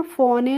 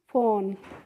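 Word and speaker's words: phone: क्योंकि बच्चों इंग्लिश में रूल होता है कि जब भी कोई स्पेलिंग होती है और उसके लास्ट में इ लगा रहता है तो हम उस इ को नहीं पढ़ते। यानी कि वो इ क्या रहती है? साइलेंट रहती है। इसीलिए इसे हमें फोन ए नहीं पढ़ना होता है। क्या पढ़ते हैं हम इसको? फोन।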